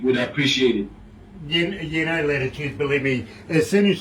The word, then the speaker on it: L'titude: It's Latitude, L with an apostrophe, Titude. Because remember, an apostrophe is always representing a silent letter somewhere there. So yes, it's Latitude, you know.